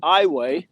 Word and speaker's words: Iowa: It's actually, they pronounce it Iowa.